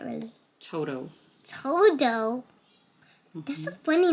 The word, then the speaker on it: Toto: Toto. Toto? Mm-hmm. That's a funny name. Who names a dog Toto? Toto. Toto. Yeah. He said Toto. Toto. Toto? It rhymes with Coco. Exactly. But it's T-O. T-O.